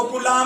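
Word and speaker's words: coulomb: सी का मतलब है कूलाम। सही नाम तो कूलम है, लेकिन बच्चों हिंदी की प्रोनाउंसिएशन है वो कूलाम चल पड़ी, इसलिए आवेश का जो मात्रक है वो क्या हो गया?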